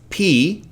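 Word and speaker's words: π: So that's why we don't pronounce this letter pi. We pronounce it P.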